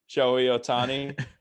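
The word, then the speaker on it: Shohei Ohtani: Shahini Otani? Joey. Shohei Otani.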